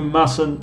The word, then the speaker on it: mustn't: You mustn't smoke. Fija la pronunciación de mustn't, mustn't. Mustn't smoke. Something like this. You mustn't. Mustn't smoke. No se escribe así, pero así suena.